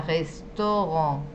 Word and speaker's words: restaurant: La A con la U juntas se pronuncia como una O. Como por ejemplo, nosotros tenemos un ejemplo que lo utilizamos todos los días, que es la palabra restaurant. ¿Cómo dicen ustedes restaurant en castellano? ¿Restaurant o restaurant? Restaurante. Por eso, es decir, que están pronunciando de hecho la AU como una O, como hacen los franceses, ¿sí?